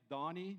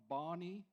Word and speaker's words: Danie: Uh my name is Dani not Dannie uh I know when I pronounce it over the phone when I speak to people they always reply Dani.